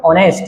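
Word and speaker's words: honest: टू बी द मोस्ट ऑनेस्ट, H silent को बोलेंगे ऑनेस्ट person, वो मानते हैं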